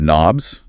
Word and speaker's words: knobs: And you might have knobs. A silent K for turning things.